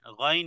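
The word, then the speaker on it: غ: আলামিন এরপরে গাইন গাইন এবং খে দুটি অক্ষর একই জায়গা থেকে উচ্চারণ হয় যেমন হলকের শেষ থেকে তাহলে গাইন আল গাফুর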